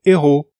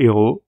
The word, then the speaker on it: héros: h muet ou aspirer alors le mot héros c'est le héros c'est aspiré en revanche on va dire l'héroïne au féminin donc ça c'est pas très logique c'est pas très cohérent mais le mot féminin a un h muet et le mot masculin à un h aspiré le mot huile ça